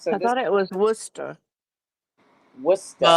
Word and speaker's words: Worcester: Wait, so this I thought it was Worcester. Worcester. Well, if I'm saying it quick, it'll say like Worcester, but Worcester. Worcester is like I pronounce my Rs more than others.